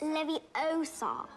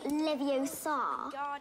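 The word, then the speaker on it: Leviosa: someone's eye out besides you're saying it wrong it's Levi Oar not Lev Oar you do it then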